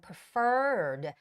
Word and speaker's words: preferred: name contact number and preferred the stress goes on the second e which is preferred appointment